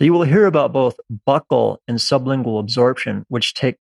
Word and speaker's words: buccal: will hear about both buccal and sublingual absorption which take place in the mouth and by the way buccal means the inside of the cheek and is sometimes pronounced bucyl and sublingual means under